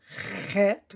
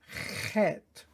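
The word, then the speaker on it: חית: And then we have Gimel, Dalet, Hey, Vav, Zayin, Chet, which has a guttural sound. Chet, not Chet. It's Chet.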